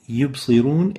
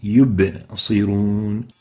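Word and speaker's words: يبصرون: So ba needs to be having qalqala characteristic, yub, especially when it has the sukoon, it has the still state. So saying yubsirun is not proper. The right way to say it is yubsirun. Yubsirun. Make sure to give the ba the enough qalqala characteristic.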